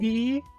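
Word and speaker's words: え: E is pronounced E as in easy or eat or eel.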